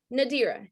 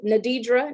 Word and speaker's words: Nadira: my name is nadira nadira yep that's my name three syllables seven letters but people mess it up ten times just the same i get called nadidra nadira nadria ladira and even madir so let me sound